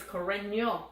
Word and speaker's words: Carreño: So Carreño Busta, by the way, is a solid player and has technically, if somebody is Carreño, because in Spanish the N is ño if it has a line.